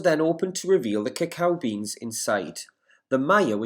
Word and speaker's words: cacao: today and the maya word for chocolate is cacao which is how you pronounce the word which i showed you earlier there cacao that's how it's pronounced the maya used chocolate